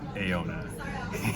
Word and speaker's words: Ejona: We were saying it wrong. Apparently, it's pronounced Ejona.